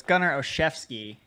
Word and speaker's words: Olszewski: Well, first of all, so it's Gunnar Olszewski.